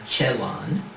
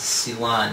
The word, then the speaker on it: Celan: whose number plume was the anagram chelon which we often mispronounce Ceylon in English wrote a poem that